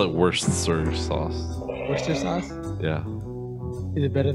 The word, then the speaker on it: Worcester: It's like Boston has a town that's read Worcester, but it's pronounced Worcester.